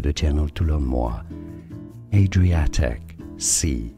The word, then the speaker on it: Adriatic Sea: Adriatic Sea, that's British English. Adriatic. Stress on the A syllable. Adriatic Sea. Now in American English it's said rather as Adriatic Sea.